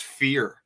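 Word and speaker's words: vier: in Germany the letter the number four sounds like fear it's pronounced fear which is interesting I'm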